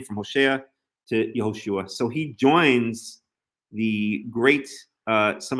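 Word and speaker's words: יְהוֹשֻׁעַ: It's not like Hosea and Joshua in the English. In the Hebrew, it's Hoshea and Yehoshua.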